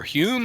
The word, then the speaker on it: Home: think it was um home or or Hume I think it's I think it's pronounced home who people people saw